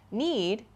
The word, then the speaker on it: knead: So you can see here, as I talked about at this point, need, K-N-E-A-D, is spelled differently from need, N-E-E-D. Both of these are verbs, but they sound the same and they have different meanings.